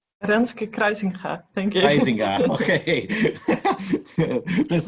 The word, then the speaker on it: Kruisinga: Is it the right pronunciation? Renske Kruisinga, thank you.